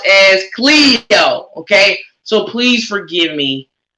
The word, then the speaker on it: Cleo: is pronounced from my understanding or i was pronouncing it as chloe and her name is pronounced as cleo okay so please forgive me i think i'm